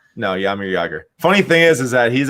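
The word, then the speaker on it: Jaromír Jágr: You don't pronounce the J's right? No, Jaromir Jagr.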